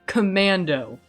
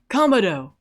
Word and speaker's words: Kamado: these people's names, because I have been calling this guy Commando. There is no N in that name. That is Kamado.